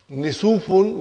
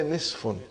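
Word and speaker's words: نصف: Instead of saying, brother and sister, instead of saying Nisufun, we say Nisfun.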